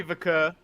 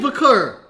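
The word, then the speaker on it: Vaquer: so we got Stephanie vur versus Ren Sinclair so she changed her name who because they're not saying vur they're saying V I think it's just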